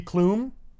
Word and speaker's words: Klum: And so it could be Clum. like Heidi Klum. Yeah. Right. But she says, "I've come for Klum," that rhymes. So it's establishing that's actually how you pronounce the name.